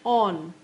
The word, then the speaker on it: awn: is o n on misspelled and mispronounced so that it rhymes with Dawn so basically a w